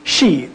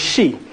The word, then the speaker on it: Xi: Shi, X-I. That's how X-I is Shi. That's how it's pronounced within the Olmec tongue.